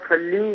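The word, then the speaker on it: صلِّ: تو عربی تلفظ جو ہے وہ اللہم صلی، یعنی لام کے نیچے زیر ہے.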